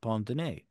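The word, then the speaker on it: pince-nez: Pond Pond oh well it's it's not spelled like that it's spelled p i n c d NE Z but I believe it's pronounced Pond and yes the Roosevelt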